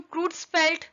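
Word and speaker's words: Creutzfeldt: इसको हम क्रूट्सफेल्ट Jacob disease भी बोलते हैं, उसी का शॉर्ट फॉर्म CR जैकब है। Okay, it's spelling is CREUTZ FELDT।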